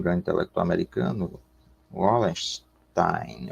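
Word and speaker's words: Wallerstein: O intelectual americano, o grande intelectual americano, Wallenstein, ou Wallenstein, né, na pronúncia alemã, Immanuel Wallenstein, ele, no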